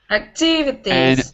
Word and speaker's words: activities: at the end but in english it's not activities it's on the second syllable activities and with employees you